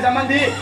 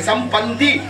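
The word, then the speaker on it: சம்பந்தி: சாப்பிட்டு போறாரு சம்மந்தின்னு கூப்பிடலாமா சம்மந்திங்கிற வார்த்தை உச்சரிப்பு தப்பு சம்முனா நல்ல மந்தினா குரங்கு வாங்க நல்ல குரங்குறான் அவங்க எல்லாம் ஆமா குரங்குன்னு சோறு தின்னுட்டு போறாங்க அப்படியா சொல்றது சம்னா நல்ல பந்தம்னா உறவே வாங்க நல்ல உறவே சம் பந்தி அப்படின்னு சொல்லணும் தாமரமா இருந்தா என்ன சொல்றோம்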